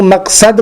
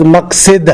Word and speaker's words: مقصد: ہم لوگ مقصد پڑھتے ہیں، شاید درست لفظ مقصد ہے، قصد یقصدو ہے نا، تو ظاہر سی بات ہے کہ اس سے بنے گا مقصد، لیکن مشہور ہے مقصد.